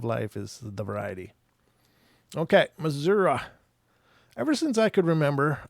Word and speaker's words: Missouri: So the first story here is coming from Missouri, or Missouri, depending on how you like to pronounce that. The natives call it Missouri. I don't know how they get the out of that I, but they do.